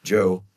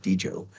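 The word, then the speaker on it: Djo: TV show came but I liked his music Joe as I just realized that's how you pronounce it not DJ Joe and uh I love his music and I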